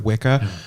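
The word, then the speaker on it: Wicca: should still do that and say witch instead of wika that's a I'm going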